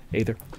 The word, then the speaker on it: Aether: Aether. Aether. Aether. The A is silent.